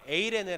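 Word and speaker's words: εἰρήνη: 평강 평강 이란 단어가 헬라어로 에이레네 는 발음을 갖고 있어요 4 2l 에 에이레네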